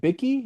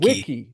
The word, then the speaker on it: wiki: As you were describing the is it bicki? How do you spell that? Vicki. Just like a Wikipedia basically. Wiki. Wiki.